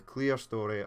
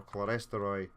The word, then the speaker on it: Clerestory: They are running the Mogul with the Clearstory or Clerestory, however you like to pronounce it, wagons.